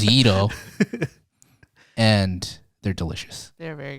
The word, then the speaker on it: gyros: Mediterranean yeah Mediterranean Gyros first of all it's pronounced Ito and they're delicious they're very good it's so